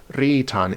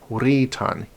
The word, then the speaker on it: writan: C as in knief, there is no such thing as a silent W. The word writan was actually pronounced with a W in it. It was not pronounced ritan, it's writan.